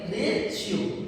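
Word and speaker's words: ratio: ही यहां पर है आर ए टी आई ओ जैसे हम इसकोर ऐसे पढ़े तो रेट बन जाएगा लेकिन हम इसे रेट ना पढ़ के क्या पढ़ेंगे रेशियो समझ रहे हो जो रेशो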